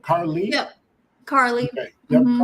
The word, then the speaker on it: Carlee: Now I say Carlee, but is this E? How do you say her name? Carlee.